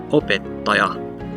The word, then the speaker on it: opettaja: So we would look at an example here, opettaja, opettaja. So you'll notice that the primary stress is on o, and then the secondary stress is on the ta, opettaja, dada, dada, opettaja.